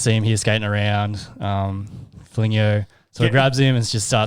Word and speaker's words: Foligno: So Nick, how do you pronounce that? Foligno.